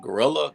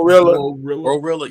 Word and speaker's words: GloRilla: Was it Gorilla? How do you say her damn name? Glorilla.